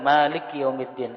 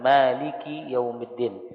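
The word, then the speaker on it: مَالِكِ يَوْمِ الدِّينِ: Maliki jangan Malik yaumiddin kadang-kadang sering kita mendengar kafnya disukunkan Maliki yaumiddin itu salah itu keliru tetapi harus dikasrahkan Maliki yaumiddin kemudian Dal itu dibaca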